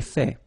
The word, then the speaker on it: fait: So remember, final T is not pronounced. J'ai fait.